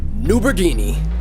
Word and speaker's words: NuBrGNi: he's from ND game his name rhymes with linguini it's noberini did you like that